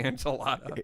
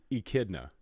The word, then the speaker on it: echidna: I always want to say enchilada. He's an Knuckles the enchilada. He's an echidna. That's how you say that? Yeah, echidna.